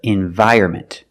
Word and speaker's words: environment: Together, environment. Don't say environment or environment. There's no N.